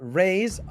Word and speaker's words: Raze: So this is going to be the Quantum squad: Bashka, Raze. Even though he's RVZE, he's pronounced Raze, Kolya, Somnia, and Fezor.